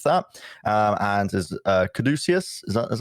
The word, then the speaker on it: caduceus: tank top underneath that um and is uh caduceus is how you pronounce it caduceus um around his neck as